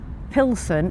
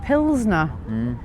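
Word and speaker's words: Plzeň: It's not Pilson, it's Pznner.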